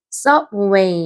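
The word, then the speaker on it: subway: 서웨이 서웨이 이렇게 되죠 1강세 2강세 섭웨 이렇게 하면은 지하철 다음에 시에서 트 x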